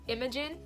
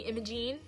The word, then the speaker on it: Imogen: My name's Imogen, and people like to call me Imogene.